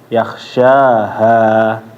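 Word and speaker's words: يخشاها: Terus yang terakhir juga tadi ketika membaca, yakhsha, ketinggalan haknya ya. Yakhshaha.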